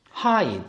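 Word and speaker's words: ให้: 역시 고자음에도 이게 붙으면 이성이 되는 거죠. 그래서 발음은 하이.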